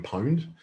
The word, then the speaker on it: pwned: i been owned but they replace the o with a p so it's pronounced have i been pwned um it's a very